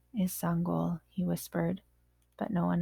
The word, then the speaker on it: Sangoel: next my name is sangol he said before the coach could say it wrong as sangol walked home from practice one of his teammates ran up hey sango my name is sangol he called softly as